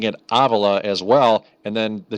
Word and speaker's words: Avila: Just to give you a little taste, this is how you pronounce his name. His name is Avila. Avila. Yep. Avila. That's his name. Avila. That's right. The correct pronunciation. It's a Cuban name.